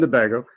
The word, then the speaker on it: Tobago: Sorry, Trinidad and Tobago. And I put the accent on the wrong syllable, I suppose.